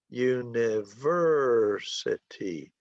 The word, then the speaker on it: university: It has 5 syllables and the stress is on the third syllable, syllable number 3.